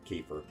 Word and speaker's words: kefir: But of course, I talk to my clients a lot, or we call it Kefir or kefir. Milk. But actually, the real way is kefir. It rhymes with career.